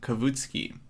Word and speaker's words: Kavutskiy: how's everyone doing uh you can pronounce my last name kavitsky so my full name